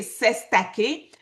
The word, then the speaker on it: cestui que: Le Sestuique Tros, prononcé Sestake, terme courant en Nouvelle-Zélande et en Australie.